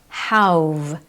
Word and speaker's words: how've: Notice that you don't hear a clear, "How have you been doing?" or "How have you been?" Instead, how've.